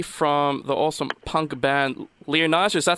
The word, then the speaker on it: Lionizer: we have Bailey from the awesome punk band leonidas that's how you say it Bailey it's this lion either oh I know that that's definitely a new